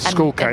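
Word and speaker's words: Schoolkate: He just said Schoolcate. And knew how to pronounce Tristan Schoolcate.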